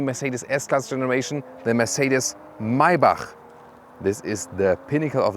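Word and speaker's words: Maybach: s-class segment and mybach listen and repeat maibach not my buck because the germans they have this ch as so and the ultimate german pronunciation would be mercedes maibach that's it so now you know it and you can see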